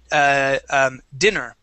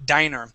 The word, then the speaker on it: diner: Now, this here, you had pronounced dinner, okay? This is actually diner. When there's one N, that is a long I sound, and that is a place that you eat at.